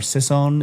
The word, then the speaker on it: Sisson: But also you could to decide there's a guy by the name of Mark Sison or Sisson is how you say it.